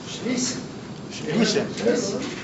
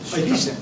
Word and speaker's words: Schlesien: Glauco, ¿cómo se pronuncia? Schlesien. Ahí lo tenés. Schlesien.